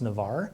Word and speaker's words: Nevers: oak the name Nevers comes from a region in France which is pronounced Navarre today Nevers makes tables